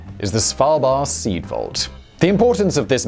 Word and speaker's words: Svalbard: Oh, also, I'll just add before we get started, this is pronounced Svalbard. There is no D on the end, and that's how I'm going to pronounce it throughout this video, even though Svalbard is an accepted pronunciation.